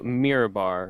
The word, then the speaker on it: Mirabar: out to is it is it pronounced mirror bar mirror bar mirror bar yeah i'm gonna be heading out to mirabar a couple of our